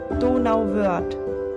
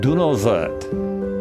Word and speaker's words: Donauwörth: Donauwörth. Donauwörth.